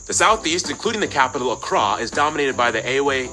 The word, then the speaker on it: Accra: hole and tamale and of course the capital Accra yes that's how you pronounce it located in the Southeast along the